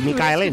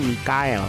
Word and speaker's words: Michael: Indonesia disebut hostess si Michael ini dengan sebutan Michael ya padahal katanya pronounciation YouTube mengucapkan yang bener itu namanya Mikael katanya begitu oke Michael Faith Oke